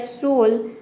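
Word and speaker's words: soul: एल हो मान लीजिए हमने एक वर्ड लिया सोल यहां पे आपने पहले प्रोनाउंस किया ओ य के जगह पे ओ रखा तो इसका प्रोसेशन हो जाएगा सोल क्योंकि देखिए एस का स होता है ओ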